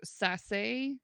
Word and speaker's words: Sasse: No, we are doing a collaborative live stream with Dr. Sasse, which I know that's how his name is supposed to be pronounced because I heard it today. Woo! Dr. Sasse is a photographer of